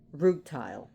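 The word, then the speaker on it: rutile: Rootile.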